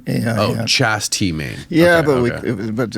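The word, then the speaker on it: Chas. T. Main: h s period t period M A oh Chast T main yeah but but it's Charles I mean that's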